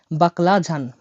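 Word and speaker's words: баклажан: এই অক্ষরটা অক্ষরটা যে এইচ বা ঝ এর মত উচ্চারণ হয়ে থাকে তাহলে বাকলাঝান বাকলাঝান বাকলাজান মানে হল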